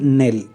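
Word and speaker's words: knell: उसको बोलते हैं हम नेल के एन इसको हम नेल पढेंगे को साइलेंट मानेंगे ठीक है दूसरा इस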